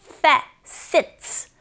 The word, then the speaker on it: facets: 자, 철자 face, tus 아닙니다, 여러분. face, facet, facets. 자, 뒤에 s가 붙어서 츠 소리가 나죠.